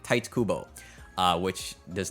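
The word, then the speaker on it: Tite Kubo: me it's not pronounced TI Kubo it's more like Tito or tights I think it's supposed to be tights like tight Kubo uh which does not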